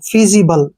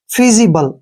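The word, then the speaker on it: feasible: ई ठीक है ना यहां पर एफ का उच्चारण फ होगा एफ का उच्चारण फ होगा और ई ए को हम ई की मात्रा पढ़ेंगे और एस आई का उच्चारण जी के रूप में करेंगे बी का उच्चारण ब हो गया और एल का उच्चारण ल हो गया ई का उच्चारण हम नहीं करते हैं फीजिबल क्या पढ़ेंगे इसको फीजिबल फीजिबल होता है सुलभ जो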